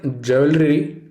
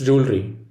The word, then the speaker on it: jewelry: next letter is j it is not jewelry it's jewelry the root of this word is jewel and that doesn't change for either jeweler or jewelry the british add a syllable jewelry it's not just this